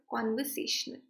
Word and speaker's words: conversational: Now you can note ki ye con or se. In dono syllables ke baad there is an apostrophe mark. Isko accent mark bolte hai. And it is used to stress the syllable.